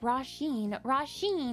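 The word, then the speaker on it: Róisín: Roshin's an Irish name pronounced Roshin.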